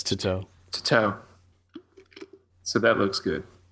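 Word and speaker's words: Tautou: Yeah, it's Tuto.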